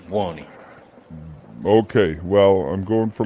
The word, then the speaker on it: Buoni: So properly is Buoni, but we pronounce it improperly. We say Buoni. Buoni, okay. Because I went to. But if Italians would know, the right pronunciation is Buoni.